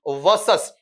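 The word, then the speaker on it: vs: ये वीएस वर्सेस मत पढ़ना बेटा, the pronunciation will be वर्सेस।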